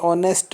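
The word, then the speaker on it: honest: पढ़ते हैं ये एयर ये ऑनेस्ट मैन इसमें एच साइलेंट है तो ओ पढ़ेंगे और तो यहां पर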